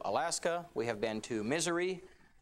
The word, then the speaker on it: Missouri: we have been to misery it is how you pronounce it i promise you that is how you pronounce that um state um i want to